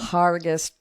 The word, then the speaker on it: Hergest: you were in uh hergest herg Ridge yeah yeah it's PR it's got a strange pronunciation because it's written with an e but it's it's pronounced with an A but um harus okay and and so